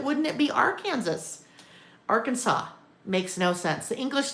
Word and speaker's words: Arkansas: Um, YouTubers in Europe often can't say Arkansas. They say ar Kansas. Our Kansas.